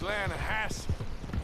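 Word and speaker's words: Lannahechee: Yeah, but it's pronounced Lanahatchee.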